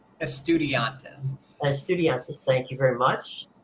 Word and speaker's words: Estudiantes: You've got San Lorenzo and Estudiantes. Is that the proper pronunciation? Estudiantes.